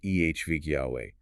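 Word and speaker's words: עבד יהוה: The Hebrew term is Eved Yahweh, Evedyaweh, pronounced EHV Yahweh.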